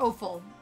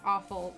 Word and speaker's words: offal: Like, offal. Not awful, offal. I'm saying it wrong.